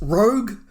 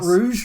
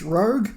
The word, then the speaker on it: Rogue: get into episode six Rogue not Rouge Rogue just spell it correctly